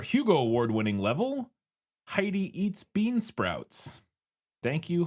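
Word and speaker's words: Hidey: I don't I I also want to note that it's Heidi like hide. Yes, it's spelled H I D E Y. Not like H not like a little German girl.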